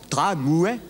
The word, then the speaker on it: tramway: Tramway.